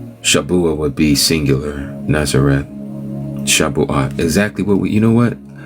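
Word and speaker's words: Shavuot: Shabuot. Thank you. Yeah, Shabuot would be plural. Shabua would be singular. Natzareth. Shabuot.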